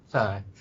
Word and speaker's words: Sai: Psi.